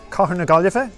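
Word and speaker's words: Cathair na Gaillimhe: matthew i'm irish i am in galway city car neglife is how you say galway city in irish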